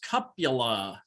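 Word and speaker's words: cupule: The name is cupula. Oh. Eupule, pronounced cup-u-la. And I'm not totally sure I got my phonics right there.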